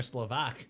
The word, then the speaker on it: Slovak: Oh, gee, I thought that was Czech or Slovak. There we go. Would that make more sense? Not the vak. The stress is on slow in V.